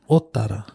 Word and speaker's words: Ōtara: Ōtara. Hey. There we go. Hey. So remembering that Ōtara has on the O, there is a macron or tohu tō.